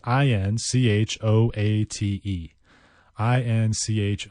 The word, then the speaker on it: inchoate: and CH o 8008 inchoate I suppose it's somewhat phonetic but you kind of want to pronounce it in Chow it because there's that CH inchoate and it means not